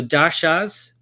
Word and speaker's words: daśā: So daśās, and it's the emphasis on the a at the end because it's got a dash over the a, and so it elongates the a sound, or a.